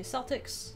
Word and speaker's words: Celtics: When it comes to sports teams, say Celtics. When it comes to like